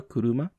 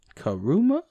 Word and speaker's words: 車: あなた And this word meaning car, kuruma. 車 Karuma, as the foreigner says. 車 Kuruma. Incidentally, notice that in English,